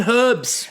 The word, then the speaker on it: herbs: The one thing we don't leave out is the H in herbs.